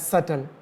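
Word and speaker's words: subtle: हैं B silent है एस यू बी टी एल ई होता है सटल इसमें बी साइलेंट होता है है ना तो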